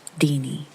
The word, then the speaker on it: Tiny: It's just what we call her, and it's pronounced Deanie.